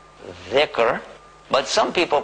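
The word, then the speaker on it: ذكر: thicker well it's an arabic word and it's pronounce thicker but some People pronounce it How z zik right and What does it mean it means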